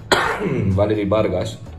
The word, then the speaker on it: Valerie Vargas: Valerie Vargas. That's how we would say her name in Spanish.